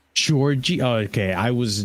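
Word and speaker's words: Đorđe: It's Georgie, by the way, is how you say his first name. Georgie?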